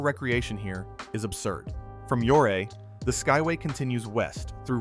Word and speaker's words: Ouray: Known as the Switzerland of America or Little Switzerland depending on who you ask and pronounced Ouray if you want the locals to respect you.